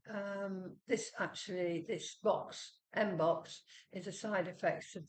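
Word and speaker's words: mpox: like uh it's m it sounds like box or rhymes with box right so I'm not going to say it uh which some people are saying um this actually this box Mbox is a side effects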